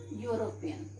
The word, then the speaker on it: European: Now children, it is starting with E, but if we will pronounce, this word will come. Okay, you will come, and you is a constant sound.